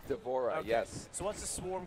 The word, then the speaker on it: D'Vorah: do is it how you how did you pronounce her name d'vorah is that right d'vorah yes so what's the Swarm Queen variation she's